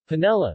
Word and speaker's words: panela: Panela, Spanish pronunciation, panela, or rapadora, Portuguese pronunciation, apadu, is